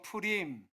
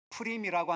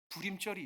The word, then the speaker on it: 푸림: 푸림. 푸림이라고 하는 한글 성경에는 부림이라고 되어 있는데 히브리식 발음은 비읍 발음이 아니라 피읍 발음이에요.